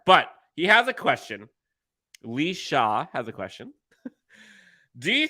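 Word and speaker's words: Laoise: do this again but laozi equals Lee shot which how the hell does l-a-o-i-s-e pronounce Lisha shout out to the Irish folks I know Irish words and names are hard but he has a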